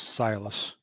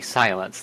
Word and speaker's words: Silas: So the name of the contact just comes across as Silas. But not actually silence, like ... No, Silas. Silas.